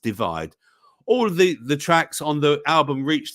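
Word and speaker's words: ÷: the UK album with his third studio album pronounced divide all the the tracks on the album reached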